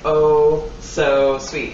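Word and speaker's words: Oso Sweet: And then I was like, oh, I get it. Oh-so-sweet. It's spelled O-S-O.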